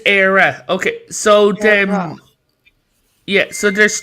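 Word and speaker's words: Éire: So you're saying E-I-R-E? Is Era.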